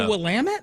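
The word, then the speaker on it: Willamette: Oregon oh really and it's the wamit river instead of willamet which is dumb it's the willamet Apparently yeah that is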